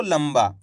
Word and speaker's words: लंबा: अब दोस्तों इस शब्द के अंदर आधा माँ का उच्चारण निकला है। कैसे पढ़ा अपन ने इसको, लंबा।